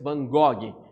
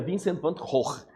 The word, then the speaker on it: Vincent van Gogh: dele, que é Vincent van Gogh, que na pronúncia, na língua formal holandesa, seria Vincent van Gogh, mas vamos falar Van Gogh do portuguesado mesmo, não tem problema.